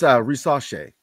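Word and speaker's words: Risacher: It's Risache. Because it's French.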